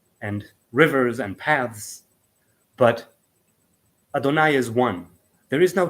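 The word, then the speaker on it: יהוה: He says Yod Hei Vav Hei, right, pronounced Adonai.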